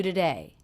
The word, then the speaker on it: today: have today three times always the first syllable is reduced to the schah sound but I'm noticing that